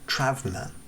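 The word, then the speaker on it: τραῦμα: trauma itself comes from a greek word travema approximately it's spelled differently than it sounds which originally made meant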